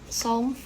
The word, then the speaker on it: Psalm: Então, quando você vê KN ou PS, né, o K é mudo, o P é mudo também. Então, aqui nós temos o Psalm 40, for the Director of Music of David, a Psalm.